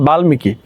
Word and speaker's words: বাল্মীকি: তারপর দেখো বাল্মীকি, দেখো বাল্মীকি, বাল্মীকি, তাহলে তোমার কি হলো? এই যে গৌণ ট মূর্ধন্য দন্তন্য ম ল এদের সঙ্গে যুক্ত থাকলে মফলার উচ্চারণ অবিকৃত থাকে।